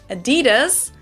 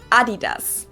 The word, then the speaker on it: Adidas: were referring to because they usually pronounce it Adidas and in Germany we say Adidas Adidas Adidas Adidas super different.